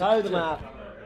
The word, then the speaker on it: Grootmarkt: Because the K is attached to the T, there is no E, so it's Grootmarkt.